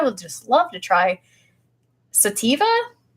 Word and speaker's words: sativa: focusing really sativa Tommy just told me it's sativa is that that must be the correct pronunciation Tommy you're holding back on me sativa